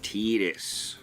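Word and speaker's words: Tidus: They pronounce it Tetus. Tetus. Yeah. And even in that game even in that game it's inconsistent. I think at least one character calls him Titus.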